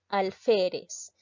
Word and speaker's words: alférez: en este caso vamos a separar la palabra alférez se divide en tres sílabas pero debo tener bastante cuidado si en